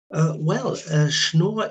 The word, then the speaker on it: Schnoor: Not that far from the main square called the Schnur. Have I pronounced that correctly? Um, Yeah. can you describe that part of Bremen to our listeners? Schnoor is the oldest still existing living quarter of Bremen.